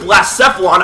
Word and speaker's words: Blacephalon: Anyways, ladies and gentlemen, like we did last time with Blacephalon, I think that's actually how you pronounce it after a bit of further research.